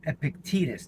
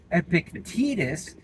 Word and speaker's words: Epictetus: Now, the second Stoic that the Marble program is based on, his name is Epictetus. Now, I would prefer to pronounce his name Epictetus because that just flows off the tongue so much easier.